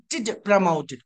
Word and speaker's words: promoted: Whenever we find TED at the end of any English word, that TED must be pronounced like TID. So, promoted.